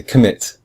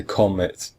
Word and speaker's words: commit: than calm we say we say commit we don't say comet say commit so the rule is the second syllable is stressed okay there is a